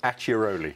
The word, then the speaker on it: Acciaroli: Tell us how to pronounce this Italian village. It's called Acciaroli. Acciaroli, yeah.